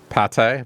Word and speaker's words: Pate: So they're they're hinting at food pate, but it's missing the the accent on the E. So if you go by how it's spelled, it's paint, but I think the intent is pate.